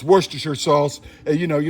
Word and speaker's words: Worcestershire: Next ingredient, Worcestershire sauce, and I pronounce it correctly, as other YouTubers don't. It's Worcestershire sauce, and you know, you don't say New Hampshire, it's New Hampshire, and so it's Worcestershire, all right?